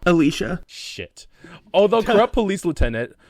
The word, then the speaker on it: Alicia: Did I not pronounce it right? I thought it was Alyssa. Alicia.